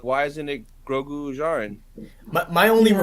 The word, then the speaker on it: Djarin: Jaren, yeah, like Din Djarin, Grogu Jaren, yeah. I've been saying Din Darjin this whole time. No, the D is silent. Come on, this Is Mandalore it? Oh, 101. that's Yeah. annoying. Just take the D out.